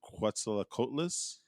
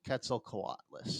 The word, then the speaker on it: Quetzalcoatlus: But AJ, you're going to finish the actual pronunciation. The Quetzalcoatlus. I mean, How do I you might say it? not even be right, but I call it Quetzalcoatlus.